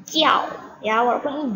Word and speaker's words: 叫: kita pelajari di minggu lalu ya, Nana ya。对，第一个是你，这个是我，就是叫，哎，你们不要把这个字读成叫或者叫呀，虽然这里有一个鸡，这就是鸡鸡呀，ini bacanya jiao ya， walaupun ini j tapi anaknya bacanya jiao